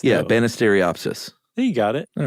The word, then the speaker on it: Banisteriopsis: one yeah but it's it's pronounced like it looks yeah banisteriopsis there you got it